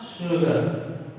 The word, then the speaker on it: sugar: Sometimes s is pronounced sha.